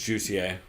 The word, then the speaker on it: Jussier Formiga: I always say his name wrong. It's Jussier, because they're Brazilian.